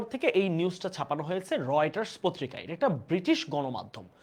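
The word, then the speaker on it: Reuters: রাইটারস এই উচ্চারণ কিন্তু রিউটার উচ্চারণ কি হবে রয়েটার রয়েটারস ধরা হচ্ছে আন্তর্জাতিক একটা সংবাদ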